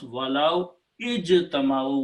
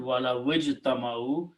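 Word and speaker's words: وَلَوِ اجْتَمَعُوا: When you combine lao with ijtama'u, you do not pronounce alif, so wow combines with the jim, and that's what it is here.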